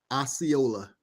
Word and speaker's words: Osceola: say your first name Osceola I was close I should have pronounced it just like it was it's spelled so can you just